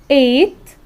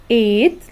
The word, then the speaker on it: ate: has had have had eight which is pronounce it as number eight we pronounce it like eight like number eight is the post verb